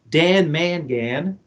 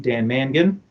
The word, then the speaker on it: Dan Mangan: the concert it was dan mangan or as he pronounces his name dan mangan it's like a single